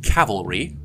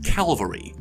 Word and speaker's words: cavalry: In American English, some speakers pronounce the word cavalry as calvary, which happens when the tongue is moved into position for the L before pronouncing the V, and then the L just sort of bleeds over.